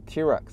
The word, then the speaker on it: TRX: 一个霸王龙，TRX 就是 T-Rex，霸王龙的读音一样的。